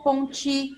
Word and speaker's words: Ponty: Nós temos a oportunidade de perguntar para o, ponte, como sugere o colega, ou ponti na pronúncia francesa? Então, trata de ponti.